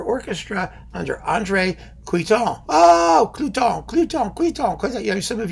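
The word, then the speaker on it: Cluytens: Oh, Cluton. Because, you know, some of you have tried to tell me how to pronounce his name. I don't know. I don't care. C-L-U-Y-T-E-N-S. Cluton.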